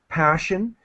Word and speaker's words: passion: and that's the pronunciation it's like an sh sound passion she has a passion